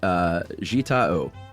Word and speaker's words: Jita O: And that, once again, is from Jita O.